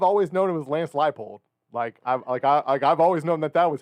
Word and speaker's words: Leipold: I mean, to be fair, I've always known him as Lance Leipold. I've always known that was how it was pronounced.